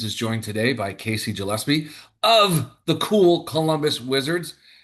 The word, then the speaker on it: Gillespie: How do you sp pronounce that last name? I'll redo it. Gillespie.